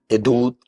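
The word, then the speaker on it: עדות: Y la palabra hebrea para decir testimonio es gedut. Hedut. Edut, ¿verdad? Hedut eh tiene una pronuncia ain, ¿verdad?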